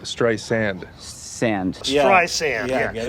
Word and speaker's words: Streisand: Sand. Sand, yeah, like sands. Like the ocean, like Barbara beaches. Streisand? No, like Streisand.